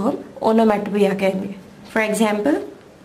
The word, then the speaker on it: onomatopoeia: Spelling और pronunciation की तरफ ध्यान दीजिए, स्पेलिंग इसका है ONOMATOPOEIA, ओनोमैटोपिया, हम इसे पढ़ते हैं ओनोमैटोपिया, ओनोमैटोपिया करके इसे प्रोनाउंस करना है, ओनोमैटोपोइया वगैरह ऐसा कुछ बोलना नहीं है, इसका प्रोनाउंसिएशन ओनोमैटोपिया है। स्पेलिंग में ओ आखिरी वाला साइलेंट है।